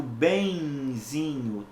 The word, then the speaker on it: benzinho: A letra N, nesse caso específico, é pronunciada como se fosse uma semivogal I. Tá? Então eu digo benzinho, trenzinho, semzinho.